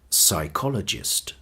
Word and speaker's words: psychologist: Today we heard the word psychologist, psicólogo. I want you to pay attention to the sound psych, because it's very different from Spanish, and it's important to have this sound in your English pronunciation.